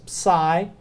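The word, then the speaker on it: psi: that common but it the closest English word you can associate with it is pseudo so it's sigh the you with the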